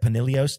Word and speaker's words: Pinillos: want to say it Panilios just because that's how Miles says it. That's Pinillos. How they say it. I'm pretty Sergio sure it's Panilios. It's Panilios. The double L makes a yes sound.